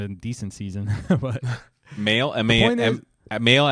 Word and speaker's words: Mahle: Mahle as in like I just got mail, or? Tyler Mahle, right? That's how you say his name.